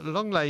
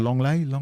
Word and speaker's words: Lenglet: Yeah, and it's Barcelona's Longley. Yes, that's how it's pronounced. Longley.